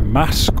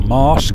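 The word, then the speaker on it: Muker: from here to to mask or mask depending how you want to pronounce it we're going to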